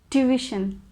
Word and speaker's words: tuition: in a wrong way like tuition but it's division tuition this is the correct